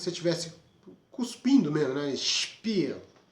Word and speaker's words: Spiel: Então essa junção de letras, ela vai se pronunciar como SCHP, mas se estiver no começo da palavra.